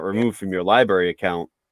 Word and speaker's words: LBRY: I want to go straight to library.